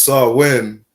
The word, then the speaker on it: Samhain: Again, it said in modern times, Samhain, a Gaelic word pronounced Samhain, is usually celebrated from